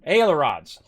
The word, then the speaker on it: ailerons: go up and down ailerons uh that's how you say it all right well now